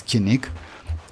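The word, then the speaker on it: Kinich: he real like uh they they pronounce as kinik and uh uh Catalyst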